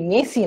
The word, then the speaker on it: merci: অ্যালাসা বলতেছে মেসি, মেসি না, actually ওটা MERCI, বাট আরটা ফ্রেঞ্চে উচ্চারণ করা হয় না।